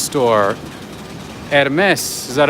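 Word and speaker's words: Hermès: buy it right the h is silent hms okay that makes sense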